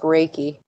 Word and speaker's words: Reiki: I believe it's pronounced Reiki.